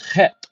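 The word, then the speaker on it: חית: The eighth letter is Het, pronounced het.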